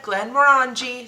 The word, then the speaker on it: Glenmorangie: today we are going to be pouring the Glenmorangie. We researched before we started this episode on how to pronounce it. This is what multiple sources said, Glenmorangie.